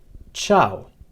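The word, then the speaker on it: ċaw: Ciao. Ciao. Ciao. And this means bye. And you may notice that that sounds exactly like the way Italian people say goodbye.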